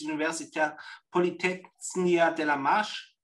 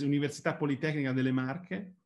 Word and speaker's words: Università Politecnica delle Marche: So thanks a lot, and the pronunciation is Università Politecnica delle Marche, just to...